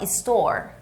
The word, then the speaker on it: store: em inglês né loja a gente fala Store Store ou seja não é Story você fala Story eu